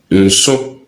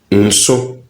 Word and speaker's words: nso: So we have nso, nso, or nsonso, nsonso. With this, there is a nasal effect. So take note of that.